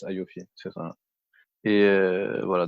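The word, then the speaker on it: AAOIFI: suis sur le site c'est la a o i f i c'est ça il app en prononce aofi c'est ça et euh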